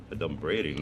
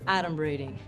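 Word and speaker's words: adumbrating: 38 points for me a d braiding that's not even a word first of all it's pronounced adom braing and it means pretending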